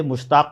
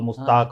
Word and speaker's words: مشتاق: صوبے میں ہیں، اور وہاں کچھ لوگ اس طرح سے تلفظ کرتے تھے کہ نام بگڑ جاتا تھا، کوئی مستقل، مستاق اور ایسے کچھ بولتے تھے، تو والد صاحب نے